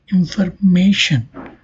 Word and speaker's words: information: As you can see here, we have information. i-o-n is added, but the stress falling on its before syllable, that is ma.